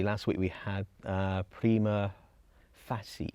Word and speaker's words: prima facie: week we had uh prima facie i believe it's pronounced there was a bit of debate was it facie okay so a couple